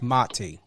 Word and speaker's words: Mati: It's very important to know how to pronunciate. And I get it. You know, sometimes you don't correct, but it's Mati.